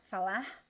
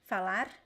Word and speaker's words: falar: is really quick but the pronunciation is this falar falar who could also say falar and sometimes in some places people just drop it fala fella so you don't hear anything okay so these four